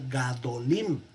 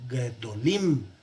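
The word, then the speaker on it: גדולים: No va a ser gadolim, sino gedolim, porque el acento va a quedar ahora en la última, ¿verdad?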